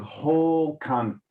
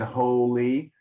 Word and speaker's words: whole: chartres and tells of whole convents you said holy remember holy is a different word h o l y is holy so that's why it's important to pronounce whole like this or or people will